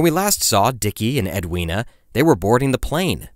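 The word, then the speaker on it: Edwina: pronunciation in part one I referred to her as Edwin but I have since come to realize that edua is the proper way to say that name so apologies we'll be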